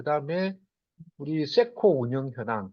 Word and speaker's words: CECO: 이제 대략은 이제 최근에 역할 변화, 그 다음에 우리 세코 운영 현황, 그 다음에 세코는 참고로 창원 엑시비션 컨벤션 센터 그래서 우리 CECO 세코라고 발음하고 있습니다.